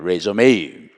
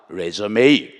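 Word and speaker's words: résumé: 이력서를 영어로 레이라 그래요 레메 사실이 단어는 영어가 아니고 프랑스어입니다 그런데 대어로 미국에서이 단어를 그대로 사용하고 있습니다 레메 그런데이 단어가 영어 동사로 쓰일 때는 발음이으로 져요 그리고 그 뜻이 달라집니다 뜻은 다시 시작 작한다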